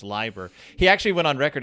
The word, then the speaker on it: Leiber: Express by uh Fritz Lieber Liber Fritz liver liver Liber l-e-i-b-e-r and according to German pronunciation rules you pronounce the second vowel in the combo so it's Libra he actually went on